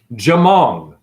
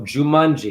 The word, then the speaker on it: Jumong: I'll find it Korean Archer I'm saying his name wrong jamong there we go jumongi his name is jumong juu m o n